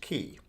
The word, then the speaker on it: Cay: vacation with the family first off Cy is pronounced key so secondly we were in an airplane I was looking back in my journal 9:55 a.m.